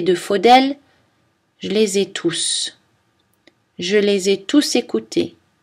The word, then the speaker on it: tous: Lorsque tout est un prédéterminant, c'est-à-dire lorsqu'il est suivi par un article ou un adjectif possessif ou démonstratif, on ne prononce pas le S. Exemple, tous les jours, tous mes amis, tous ces livres.